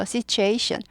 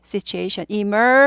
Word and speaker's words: situation: situation 아니고 이게 t가 아니라 추로 발음이 되죠. 그래서 이거는 이제 뭐 의문 현상은 구개음어라고 합니다. 발음 부드럽게 하기 위해서 t보다 t보다 더 부드럽고 발음하기 쉬우니까. 그래서 situation.